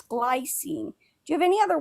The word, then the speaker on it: glycine: Also, you said glycine before. It's glycine.